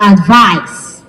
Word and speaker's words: advise: For this one, the stress moves to the second syllable for advise. Are you together? This is This is advice, and it's a noun. While this is advise, and it is a verb.